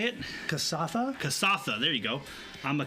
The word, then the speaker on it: Kasatha: I am playing Kastha. Is that right? Is that how you say it? Kasatha? Kasatha.